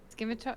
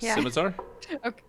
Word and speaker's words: scimitar: Skimar. Skimitar. Skim. Is that right? scimitar. Scimitar. Thank you. I have a double-bladed scimitar and a short bow. Okay, that's what I have. The double-bladed scimitar looks cool, but I wouldn't say it's as